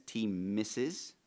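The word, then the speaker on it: T-MSIS: Medicaid statistical information system uh pronounced as T misses.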